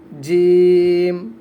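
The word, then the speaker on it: ج: এটা হচ্ছে জিম, শক্ত করে আমার সাথে সাথে সকলে পড়ুন জিম, জিম, শক্ত করে পড়ুন জিম, জিম।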